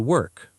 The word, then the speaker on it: work: So she goes to work. Exactly. Good. There is also a useful pronunciation tip. What is it? In work, the R sound is important.